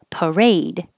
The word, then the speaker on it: parade: pie parrot parrot and that's different than the word parade and the stress is on the second syllable a parade and then